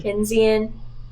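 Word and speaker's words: Keynesian: How do you pronounce the first word, Dr. Kenzian? Kenzian stimulus, supply side economics.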